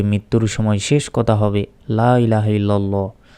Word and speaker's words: লা ইলাহা ইল্লাল্লাহু: অনেকেই এটার উচ্চারণ হবে লা তিন সেকেন্ড টান হবে ইলাহা ইলাহ এখানে এক সেকেন্ড টান হবে লা ইলাহা ইল্লাল্লাহু অনেকে বলি ইল্লাল্লাহু এটা